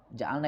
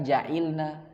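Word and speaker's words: جَعَلْنَا: Ja'alna ini ada ya di sorof? Ada ya? Ada enggak? Ja'ala yaj'alu. Makanya bacanya di sini ja'alna, bukan ja'ilna, bukan ju'ulna, bukan. Karena dia wazannya fa'alna.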